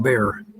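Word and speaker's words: Bexar: It asked for Bayar. Someone tells me that's pronounced bear.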